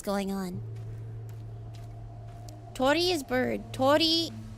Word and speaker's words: Torii: Torii, you pronounce the second I as well.